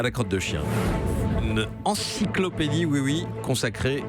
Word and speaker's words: Xi'an: Chien sur place. Chien.